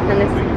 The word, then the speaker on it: Hennessy: How do you say Hennessy? Hennessy? Hennessy. Hennessy. Like Tennessee.